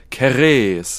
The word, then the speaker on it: Ceres: ich habe mal nachgeguckt wird keres ausgesprochen ja also es wird nicht Ceres ausgesprochen Göttin der Fruchtbarkeit vergleichbar